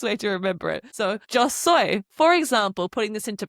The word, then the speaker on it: yo: You say joy. Now, it's literally written jo y o soy. S o y like soy sauce is the best way to remember it. So, joy.